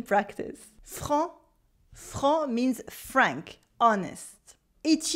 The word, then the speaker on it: franc: You have a nasal en en, and a silent C at the end, even in the plural. It's like blanc, blanc for white. Repeat after me. Franc, franc, franc.